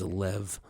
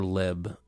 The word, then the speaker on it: lev: The Hebrew word for heart is lev or leb, L-E-V or L-E-B, they would pronounce it both ways.